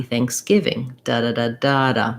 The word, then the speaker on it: thanksgiving: going to be again main stress on the give syllable so it'll sound like happy thanksgiving that's the rhythm of that phrase okay so you probably